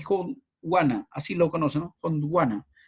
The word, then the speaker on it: Gondwana: Gondwana, así se pronuncia.